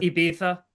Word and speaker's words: Ibiza: being they're used to being in Ibiza at this point in time of the season. They added First on of all, it's another. Ibiza. Oh, Okay. Ibiza. They Pronounce it added on properly.